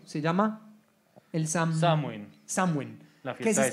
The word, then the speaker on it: Samhain: Halloween, sino que, Diego, me ayudar con la pronunciación, se llama el Samhain. Samhain. La fiesta de Samhain.